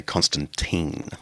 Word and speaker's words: Constantine: I think Americans say Constantine, but anyway, I come from the the Anglo Brit British Australian tradition. But um Constantine is often um used